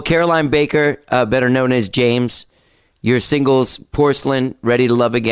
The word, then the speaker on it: JMES: She plays under the name James, and it's spelled JMES.